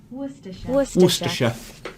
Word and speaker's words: Worcestershire: not going to say it it's the sauce Worcestershire Worcestershire Worcestershire is that how you would have said it would you have said sir sure Worcestershire do you want to be British Worcestershire so fancy you could be the most proper